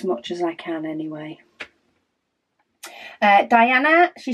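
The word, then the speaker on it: Daiana: Fred really doesn't know Diana's is spelled d a i um a-n-a um she says her name is pronounced Diana the traditional spelling however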